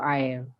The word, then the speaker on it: air: Air is water, A-I-R. The old spelling is A-Y-E-R. So it's pronounced air. Okay, here you pronounce the I, air, and it's guava.